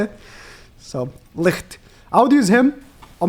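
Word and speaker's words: Licht: German girlfriend so he's this name is in German okay she was like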